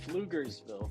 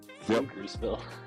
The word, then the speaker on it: Pflugerville: Pflugersville. Yeah, starts with a P, right? The P is silent.